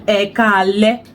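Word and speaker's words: Ẹ kú alẹ́: And the next one, ekale. Ekale. Ekale. Ekale. Good job. Ekale. Ekale. Remi. That's how we pronounce words in Yoruba.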